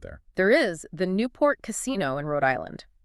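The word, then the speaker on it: casinò: In modern Italian, if you pronounce casino without the accent, just the flat, unaccented word. Casino. Right. It actually carries a very negative connotation.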